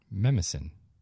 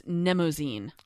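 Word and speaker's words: Mnemosyne: a tough one yeah memosyn looks like no no no no no yeah it's like a mnemonic um wait how do you pronounce it memasen no that's that's not how you pronounce it it's nemozine nemozine okay nemozine okay okay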